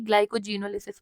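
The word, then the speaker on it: glycogenolysis: तो just try कि इसको अपने प्रोनाउंसिएशन में ऐसे पढ़ो कि ग्लाइकोजन आ जाए, ग्लाइकोजेनोलिसिस।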